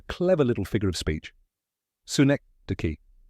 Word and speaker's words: synecdoche: Si-NEK-duh-kee. It's pronounced si-NEK-duh-kee. Let's break it down. Si like sun without N. Rhymes with neck. Duh-kee, soft and smooth.